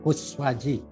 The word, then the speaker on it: Koeswadji: Ya, nama saya singkat saja, nggak ada tambahnya, Kuswaji, Koes. Jadi harus ejaan lama, DJ yang belakang, ejaan lama juga.